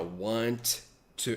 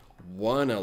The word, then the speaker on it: want to: Bom, ela não diz assim, ó, want to... Ela não diz want to look. Ela diz wanna look, tá?